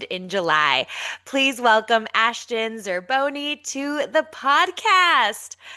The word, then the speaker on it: Zerboni: Please welcome Ashton Zerboni to the podcast.